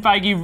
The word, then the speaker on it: Feige: it's confirmed fige confirmed I like how fige spelled like beige but with an F you mean by my favorite color any who Kevin fige really casually slipped in